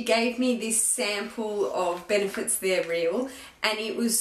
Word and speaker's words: Benefit: They're Real by Benefits. Sorry, that was a bad pronunciation. It's Benefit.